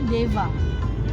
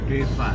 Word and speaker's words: Dewa: Tapi kalau sebenarnya dewa yang kita sebut dengan nabi itu sebenarnya kita seharusnya membaca itu Deva. Deva. V ya. Deva karena ejaan India kan.